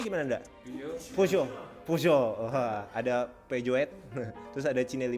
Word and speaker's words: Peugeot: Bacanya gimana Nda? Peugeot.